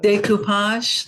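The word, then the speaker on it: Découpage: So Alice walks into thinking she's going to how do you pronounce it? Decoupage? Decoupage, like pasting things on Yeah.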